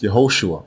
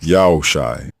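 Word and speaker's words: יהושע: The second version is not pronounced Yehoshua or Joshua. It is pronounced Yahushai, Yahushai, and it also means Yahweh is salvation.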